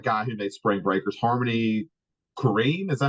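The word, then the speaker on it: Harmony Korine: like who's that guy who made Spring Breakers Harmony kareim is that how you say his name yeah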